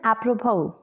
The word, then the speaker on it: apropos: friends in this s litter is silent it's pronunciation is apropos it means relevant it's Hindi meaning is a